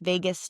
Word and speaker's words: vagus: VAGUS, vagus nerve. Okay. I just didn't know if it was spelled like Vegas, like Las Vegas. No, vagus.